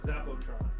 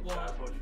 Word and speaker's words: Zapotron: Z-A-P-P-A-T-R-O-N. Both incorrect. Is it Zap-O-N? It's one word. Zapotron. Oh, Zapotron. That's why really, I know. That's what it's like so easy for me to go Zapotron.